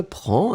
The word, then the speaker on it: prends: So, je prends, and remember, DS. Tu prends des S, il, elle prend des. We pronounce them exactly the same way, but still keep in mind that we should definitely write them like that.